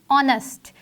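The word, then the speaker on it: honest: नेक्स्ट word is ऑनेस्ट। हम इसको ओ से स्टार्ट करते हैं बोलना, लेकिन इसमें एच जो है वो भी इस्तेमाल किया जाता है। एच इज़ a silent letter.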